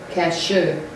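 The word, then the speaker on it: kasher: the word culture clearly comes from the hebrew cashew spell it k-a-s-h-e-r so now we saw that that's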